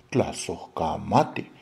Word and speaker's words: tlazocamate: Por ejemplo, la palabra gracias en la Ciudad de México se pronuncia tlazocamate.